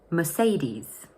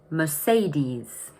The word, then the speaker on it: Mercedes: That's probably because in English we normally say Mercedes. Notice that the stress is in the middle of the word and the ending is a long E sound. So let's repeat that. Mercedes.